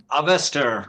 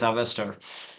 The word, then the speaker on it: Avestor: We used to sometimes use Avestor and Avestor, but the proper way is Avestor, is what we would recommend.